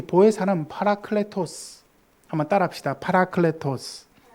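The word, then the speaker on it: παράκλητος: 여러분, 헬라어로 이 보혜사는 파라클레토스. 한번 따라합시다. 파라클레토스. 예, 파라클레토스.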